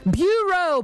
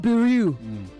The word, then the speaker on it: bureau: verb agreement rule Esther Bureau both of you not Buu Bureau okay Bureau not Buu misre not misrepresent misrepresent